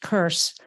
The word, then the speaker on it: CRSC: of CRT or crsc the acronym is pronounced curse admit they're too intent